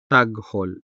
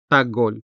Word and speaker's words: taghol: The stress falls on the first syllable, tag, making the second syllable hol unstressed, where you can also find the consonant ha. And since it is in an unstressed syllable, it sounds weak in casual or informal speech. Take a listen.